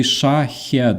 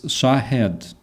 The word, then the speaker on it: Shahed: Uh for example uh when you say um shahed you cannot say shahad it's shahed or or vice versa.